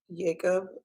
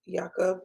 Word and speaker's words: Jakob: um tim choria gave jacob jakob um kenika is correcting our pronunciation in the chat there gave him